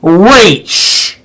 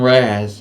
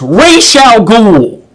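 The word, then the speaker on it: Ra's al Ghul: should we say rachel cool yeah and it's pronounced race people keep calling on raz even on the other review chain is not right it's racial ghoul they made it a point in pronouncing it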